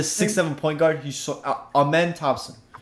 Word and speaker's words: Amen: same track class but a man is nasty they spell it like a m e m like amen yes bro he's so